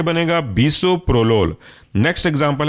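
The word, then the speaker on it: bisoprolol: आपका एसे ब्यूटो लोल next example है आपका बसो प्रोलोल स्पेलिंग है बसो बी आई एस ओ प्रो पी आर ओ प्रो और लोल एल ओ एल जुड़ कर के बनेगा बसो प्रोलोल नेक्स्ट एग्जांपल है आपका एस्मोलोल स्पेलिंग है एस्म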